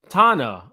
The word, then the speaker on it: Tana: she says congratulations memes it's pronounced like Donna but with the T oh so Tana okay all right thank